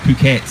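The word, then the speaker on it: Phuket: __ ] it and luy kindly pointed out it's pronounced puket right on to the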